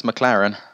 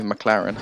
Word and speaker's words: McLaren: How to pronounce McLaren? Just say McLaren or McLaren. Some people say like Laren at the end. It's a bit weird.